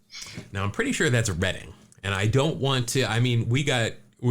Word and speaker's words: Reading: I just want to make sure, and maybe you're right, but I'm pretty sure it's Reading.